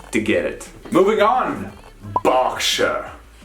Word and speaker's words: Berkshire: get it moving on berkshire bark sure like a dog barking and then squeaking berkshire not berkshire certainly not shy whenever you see the shire it's actually more of a sure this is a county